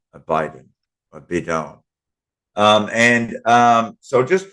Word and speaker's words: bidone: Biden b d o n a Biden a bidone um and um so just remember a bedone